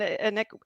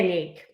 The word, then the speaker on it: Annyck: Yeah, Stefanie and Annyck, and am I saying it wrong? You can say Annyck, but Annyck. it's just because it's like French and English.